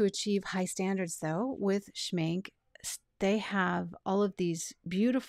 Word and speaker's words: Schmincke: people say schinka or schmink e but I believe it's a silent E is the way it's supposed to be I think in order to achieve high standards though with schmink they have all of